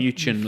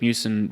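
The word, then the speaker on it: Miucin: Yeah, Mewson, not Mewchin like I thought.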